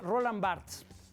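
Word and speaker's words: Roland Barthes: Eh, hay un autor que se llama Roland Barts, se escribe Roland Bartes con Tes.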